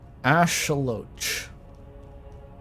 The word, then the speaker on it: axolotl: what I meant exactly axolotls pronounced Ash loach in the Indigenous language Axolotl sounds funnier though adelato ch kind of